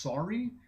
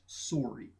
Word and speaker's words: sorry: I had grown up hearing this word pronounced sorry. Here it's pronounced sorry.